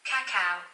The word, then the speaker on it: cacao: official what why on how to pronounce it oh yes cacao cacao cat cow oh there you go cacao cacao well there